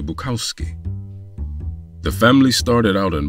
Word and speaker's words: Bukowski: henry as his father they also changed the pronunciation of their surname from bukovsky to buckowski the family started out